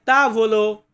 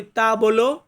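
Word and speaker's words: tavolo: হবে তারপর যেমন টেবিল টেবিলকে ইতালিয়ান ভাষাতে বলা হয় তা ভলো তা ভলো আবার অনেক সময় দেখবেন উচ্চারণ করি তা বলো তা বলো তা ভলো একই রকম ওরা বললে তো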